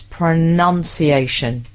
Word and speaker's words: pronunciation: Pronounce pronunciation right. It's pronunciation. Get it right.